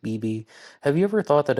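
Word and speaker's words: Beebea: to us from bb that's b-e-e-b-e-a i think that's pronounced bb have you ever thought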